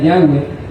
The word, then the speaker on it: Yahweh: que es el dhwh que muchos lo llaman yagüe y se ha descubierto que la pronunciación era Yahweh y que hace más